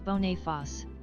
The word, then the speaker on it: Boniface: Boniface is supposed to be pronounced as Boniface. Boniface. Okay. So it's not English, right?